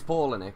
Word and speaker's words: Palahniuk: how to say it I think it's Paula Nick I've been told many times that's how you say it I just don't